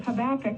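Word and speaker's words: Habakkuk: vacation, but it was on the book of Habach, if I'm pronouncing that right.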